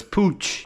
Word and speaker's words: Puig: And I looked up exactly how to pronounce it, because people pronounce it like Puig and Puig or whatever the hell, but it's Puig, and it's the new generation screen for the Ducati Monster 937s.